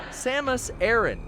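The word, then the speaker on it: Samus Aran: pronounce that samus air samus aaron there we got it right i have a little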